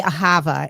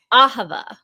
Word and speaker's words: Ahava: I want to say ahava and you said it differently ahava aha yes I have an aha that's one way to remember it yes and so ahava